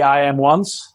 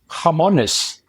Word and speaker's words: IAMONES: it becomes stickier so sometimes they say I am once which is the typical reading point from an English standpoint or otherwise the Spanish say harmonous like the pruto or the hand so it's just the name that uh you can pronounce it actually the way you want as long as you